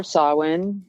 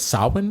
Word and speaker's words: Samhain: I'm good, chilling, getting ready for Samhain, which is for you guys Halloween.